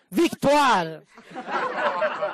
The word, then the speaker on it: Victoire: e si va con Vittoria, e te lo dico in italiano perché non lo so mi ha pronunciato in francese. Victoire. Lei ci tiene, sì, che allora bisogna dirlo Victoire.